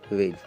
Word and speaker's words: wedge: यहाँ पे WEDGE, जी के पहले डी आया है तो डी को आपको बिल्कुल प्रोनाउंसिएशन करना नहीं है, तो सीधा सीधा आप यहाँ पे वेज बोलोगे, क्या बोलोगे, वेज।